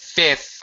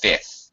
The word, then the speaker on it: fifth: silent fifth bouquet notice fifth I don't really pronounce the second F it's spelled f f h but it's pronounced fifth you you really can't